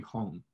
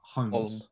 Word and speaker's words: Holm: But basically, what was happening is she was meant to be fighting Holly Holmes. But Holmes. I hate pronouncing that word. Yeah, it's weird. Holly Holm.